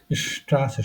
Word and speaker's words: Straße: Straße, শ না, যে প্রথমে আছে তারপরে কনসোনেন্ট, তাহলে শ, Straße, Straße, Straße।